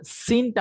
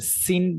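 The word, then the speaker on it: سين: হচ্ছে উচ্চারণ শিন আচ্ছা সিনটা আমরা কোন জায়গা থেকে উচ্চারণ করি সিন সিন সিন আমরা যখন ইংরেজিতে সি বলি সি এখানে কি হবে একটা দন্তিয়ানো বাংলায় যে দন্তিয়ানো রয়েছে সেটা একটু অ্যাড হবে যখন আমরা সিন বলবো জাস্ট সিন টেনে আমাদের লাস্টে করে একটা কি হবে দন্তিয়ানোর মত একটা উচ্চারণ আমাদের যুক্ত হবে সিনটা দাঁত দুই দাঁতের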